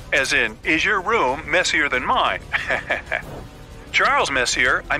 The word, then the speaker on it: Messier: m43 well young lady the m stands for Messier pronounce Messier not Messier as in is your room messier than mine Charles Messier I mean Messier to